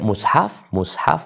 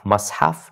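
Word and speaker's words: مصحف: Nah, untuk membaca mushaf, mashaf, dan mishaf. Yang lebih populer 2, mushaf dan mishaf ya.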